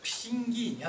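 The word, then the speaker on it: Pixinguinha: と思うんですが、ピシンギーニャって読みます。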